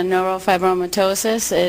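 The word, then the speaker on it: neurofibromatosis: Uh Dylan has a neurop fibromyitosis. Oh, I did get that right. He's just But I got it. I pronounced it right.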